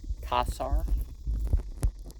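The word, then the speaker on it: Caesar: Probably the word is a title, like Pharaoh or Kassar. You're supposed to pronounce all those C's with a K sound.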